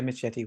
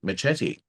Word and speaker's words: Machete: the real name of Machete. Machete. Why am I saying Machete? Machete. Because that's how it's Um, actually supposed to be pronounced.